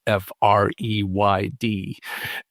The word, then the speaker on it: Freyd: Most of this began with a University of Oregon psychology professor by the name of Jennifer Freyd, or Freyd, depending on your pronunciation of her last name, which is Freyd.